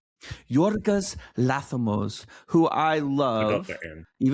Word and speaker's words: Yorgos Lanthimos: Yorgosanthamos. Yorggas Lamos, who I love, even though I can't pronounce his name very well.